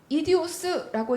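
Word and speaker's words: ἴδιος: 이디오스라고 읽는 단어입니다.이 말은 우리가 흔히 생 내 직장 동료야.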